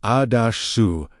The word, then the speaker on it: Asuta: Asuta, pronounced A-su-tah, in its fullest Aramaic